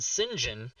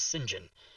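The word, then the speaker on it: St John: that in print and sinjin is the british pronunciation of saint john and that bothered me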